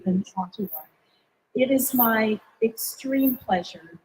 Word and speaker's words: Ottawa: It is a hard pronunciation. Toronto and Montreal are much easier to say than Ottawa.